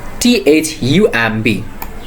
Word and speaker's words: thumb: B is silent when it's placed after M.